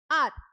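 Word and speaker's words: hour: He reached home dash आर। तो आपको पता है यहां पे आर वोवेल की साउंड आ रही है। एच तो है लेकिन एच साइलेंट है।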